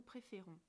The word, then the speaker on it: préférons: On prononce « je préfère » mais « nous préférons ». Vous entendez la différence ? Je préfère, nous préférons. On change la direction de l'accent pour montrer que la prononciation est différente.